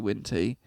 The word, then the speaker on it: Winty: Someone pronounced it wrong. I said, "Oh, it's actually Winty."